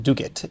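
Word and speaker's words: Duguid: Supreme Court in a case called Facebook versus dugit that's actually spelled du UI D pronounced dugat as if there's a c and a K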